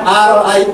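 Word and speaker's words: أرأيت: Nah, sekarang aro'aita. Nah, ini bacanya gini.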